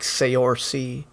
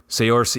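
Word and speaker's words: Saoirse: Soiree Ronan? It's like Sayorsi. Sayorsi.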